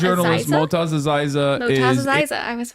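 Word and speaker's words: Motaz Azaiza: Motaz Aziza Motaz is Aziza, I was right.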